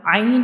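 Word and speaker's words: عين: So ain is pronounced from the middle part of the throat.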